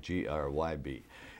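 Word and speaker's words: Grzyb: is it yeah g-r-z-y-b now how do you pronounce that i used to pronounce the grid the the z being silent g like g r y b and my brother uh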